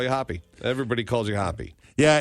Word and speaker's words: Hoppe: that's incorrect right it's it's pronounced as if you saw the word spelled that way but it's with an E hoppy yes and the hoppy